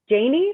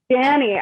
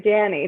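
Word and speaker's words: Janni: throw it to john janie maybe j-a-n-n-i yeah janie hey janie danny oh i didn't even get it i'm so sorry danny thank you okay it's not pronounced the way it's spelled so what can i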